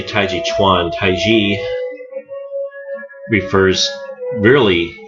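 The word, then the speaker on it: taijiquan: are hard consonants so the K is pronounced more like a g the t is pronounced more like a d so it's not colorful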